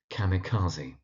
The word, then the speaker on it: kamikaze: You do sometimes find people struggling to pronounce the emigre, that's the emigre, and kamikaze, that's kamikaze.